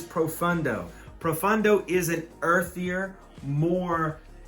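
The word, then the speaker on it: Profondo: did not mispronounce that it is not profumo this is profundo profundo is an earthier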